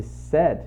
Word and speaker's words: said: Aqui a pronúncia desse said é parecida com esse sad aqui, triste. Só que você vai interpretar, obviamente, não vai parecer que você está falando Jack triste, não, Jack said, que é o passado do verbo say.